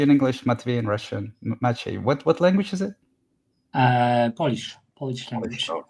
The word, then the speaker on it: Maciej: Yeah, Hi, how it's do I pronounce Maciej. Maciej.